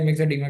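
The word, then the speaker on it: myxedema: क्योंकि उस वक्त में मैं इसको मिक्स एडिमा पढ़ने के बजाय मिक्सो एडिमा पढ़ रहा था, मिक्सो एडिमा। क्योंकि मैं इसकी प्रोनाउंसिएशन ही खराब पढ़ रहा था।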